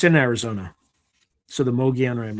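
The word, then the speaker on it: Mogollon Rim: So, the Moian Rim, it's like spelled M O G O L L O N, but it's it's pronounced Moian Rim.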